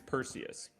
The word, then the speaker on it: Perseus: My Google, American pronunciation, because you're on British, Zach. Go to American. Oh, okay, so the British are just out there just throwing that around. Yeah. Okay. Yeah, American, we're good. American's Perseus.